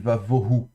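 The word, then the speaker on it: וָבֹהוּ: Donc voilà, le bet ici se prononce de manière fricative, vavohu.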